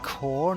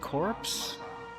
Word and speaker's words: corps: No, the delivery badge directly by station engineering corps. I'm going back to I think it's sleep. pronounced core, not corpse.